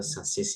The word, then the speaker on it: sausage: Sausage itu susis ya bacanya. Jadi G-nya ini jangan hilang ya.